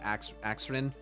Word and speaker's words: Axrin: I said Arxin instead of Axrin.